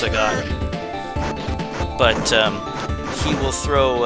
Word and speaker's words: Sagat: to always call him Sega I think it's supposed to be pronounced seot but um he will